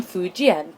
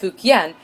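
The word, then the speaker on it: Fujian: Chinese immigrants to Bandoo come from fuen pronounced fuken in colonial English the streets stir with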